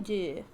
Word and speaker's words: Dúbh: mod the court of Killian dude yeah yeah the B is silent don't blame me blame